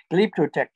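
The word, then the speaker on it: Glyptotek: a series going in the Carlsberg lipto Tech that's spelled g-l-y-p-t-o-t-e-k glyptotec it really was a a conservatory well it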